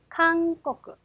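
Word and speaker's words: 韓国: 될 거고요 자 그리고 한국이라고 하는 단어입니다 같이 한번 읽어 보시죠 강꼬꾸 캉 끄 자 그래서 코 카행 앞이기 때문에 이응 발음해 주시면 돼요 자 다음은 이번에는 니은으로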